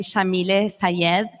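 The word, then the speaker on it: Yamile Saied: My name, Shamile Sayed, is an Arabic name pronounced with an Argentine accent.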